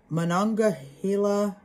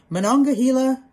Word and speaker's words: Monongahela: valley was the point where the allegheny and monongahela oh i said it right yay monongahela rivers joined to form the ohio river the